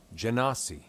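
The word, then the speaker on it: Genasi: being an air person hit the pronunciation on gennady okay let's see what it says janasi janasi look at that i was saying it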